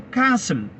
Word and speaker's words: castle: കാസ്റ്റിൽ എന്ന് എഴുതുന്നു, വായിക്കുന്നത് കാസിൽ.